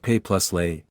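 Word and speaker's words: Pelé: Sacrifice symbolism and for him to tie into Pele gives us a direction. He was the youngest ever… and that name of his? Pronounced Pay + Lay?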